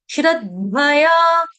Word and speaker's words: श्रद्धया: ये आगे धनुष का पूरा धनुष वाला ध पूरा धया श्रद्धया श्रद्धया क्लियर परयोपता स पूर्ण नहीं